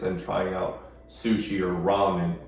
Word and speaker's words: ramen: trying out sushi or ramen. I remember growing up, they didn't pronounce ramen right. People would say, hey, you be eating them Roman noodles all the time. I'm like, Roman?